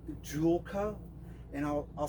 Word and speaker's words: Joolca: through a company out of Australia it's called Jula and I'll I'll spell it for you j o o l CA